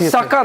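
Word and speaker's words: Sukkur: Sakar, not Sakar airport. Sucker airport. Yes. Uh the pronunciation is sucker.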